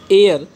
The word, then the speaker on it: heir: एयर H silent होता है, अच्छे से याद रखना, एयर मतलब उत्तराधिकारी, HEIR सभी जानते हो।